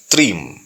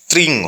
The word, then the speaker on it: त्रीम: परंपराओं के अनुसार कहीं इसका उच्चारण त्रिंग होता है और त्रिम भी होता है। तो यदि आपको गुरु परंपरा से जिस प्रकार का उच्चारण प्राप्त होता है उस प्रकार का जप कर सकते हैं, नहीं तो त्रिम का जप आप कर सकते हैं। अब त्रिम के उच्चारण के संबंध में समझ लें। त्रिशूल वाला जो त्र है इसके साथ बड़ी ई मिला लें और अंत में म यानी कि त्रीम, ये कामाख्या का बीज